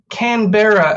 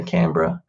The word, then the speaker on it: Canberra: the city of Canberra yeah okay well can Canberra As Americans might pronounce it but we just say Canberra um and it's a uh yeah it's where